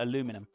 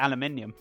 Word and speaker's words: aluminium: Oh, aluminium. That's a good one. I know you guys call it aluminum, but we call it aluminium.